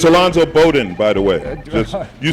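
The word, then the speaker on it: Alonzo Bodden: It's Alonzo Bowden, by the way.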